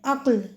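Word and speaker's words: عقل: अगला लफज़ उन्होंने बताया है हमें अक्ल। इसमें ऐन पे ज़बर काफ साकिन और लाम साकिन। पहला हर्फ मफतू दूसरा साकिन और तीसरा भी साकिन है।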